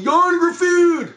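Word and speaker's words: Ioan Gruffudd: No, not the one with Yon Gruffudd, which is the only proper way to pronounce his name.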